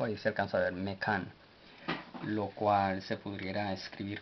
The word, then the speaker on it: Mekan: La N no lleva pronunciación en el vocal, así es de Mekan, y Mekan significa lugar,